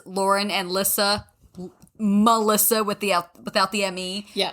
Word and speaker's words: Lissa: It's I get- Melissa without the me. That's it. It is. That's It's me, Lissa. Yeah, exactly. Exactly. So people at my job, I get Lisa, Liza, Lizza, and they're, how do you spell that?